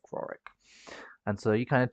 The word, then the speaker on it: Rorich: So you went to a little village called Rorick, very small farming place. It's spelled Rorich, like that.